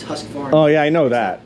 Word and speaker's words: Husqvarna: practice in the industry it's not Husker Barney it's Husqvarna oh yeah I know